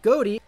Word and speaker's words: Ghoti: a bit of a pun you see the goatee archetype is actually supposed to be pronounced fish this is an archetype composed exclusively of fish monsters but the term goatee is actually kind of a way of poking